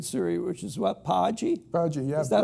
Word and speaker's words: Paji: Paji, yeah.